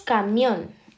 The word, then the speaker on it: camión: Luego tenemos camión, está en la última, entonces decimos que es aguda.